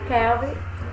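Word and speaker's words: Calvin: e haroldo no brasil mas é a pronúncia a pronúncia correta e kelvin kelvin underlove tá o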